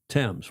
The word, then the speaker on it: Thames: Tames.